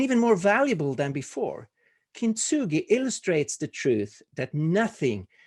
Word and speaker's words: kintsugi: the japanese culture called kinsugi maybe it's pronounced very different but kintsugi and it's it's this